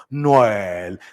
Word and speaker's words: Noël: En francés, Noël. Repitan conmigo, Noël.